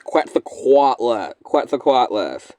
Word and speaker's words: Quetzalcoatlus: It's Quetzalcoatlus. Oh, man. I can't even remember how to pronounce it now.